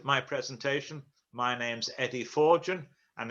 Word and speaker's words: Forkgen: presentation my name's eddie forgin and it's pronounced four gen as in four gin and tonics if you didn't like